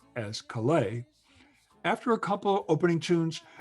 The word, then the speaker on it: Kalei: spelled kala a but everyone including his brother pronounced as kalei after a couple opening tunes they brought out